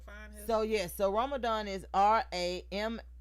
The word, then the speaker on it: Ramahdan: Ramadan. Ramadan. HDAN. It is. Spell it one more time for the ones that ain't here. RAMAHDAN. All right. Did you get that? Ramadan.